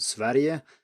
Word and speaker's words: Sverige: And then, of course, Sweden is not what we call the country in Swedish, it's called Sverige, and this is something I will return to later.